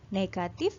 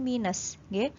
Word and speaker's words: negatif: Jadi jangan salah, cara membacanya adalah negatif, bukan min ataupun minus. Kalau min ataupun minus itu adalah salah satu operasi, nama lain dari operasi pengurangan, karena operasi pengurangan dalam bahasa Inggris itu disebut min atau minus. Tapi kalau untuk tanda bilangan, kalian harus membacanya dengan negatif, bukan minus. Jadi cara membaca yang benar adalah negatif ya.